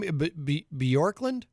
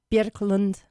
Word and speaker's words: Björklund: Bjorklund? Björklund. It's Björk like jerk.